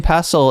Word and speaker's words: pestle: The tea in Pestle is silent, hun.